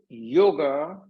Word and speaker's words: yoga: bring it the yolk the word yoga is an anglicized version of the main Sanskrit word called yog it was primarily that the Europeans the Europeans have a hard time pronouncing yolks so they put it on a after that converting to yoga my belief is in